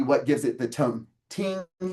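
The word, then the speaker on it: 聽: Ting, that's how you say it, uptone ting, and that tells you how to say it, but it's the character for the king.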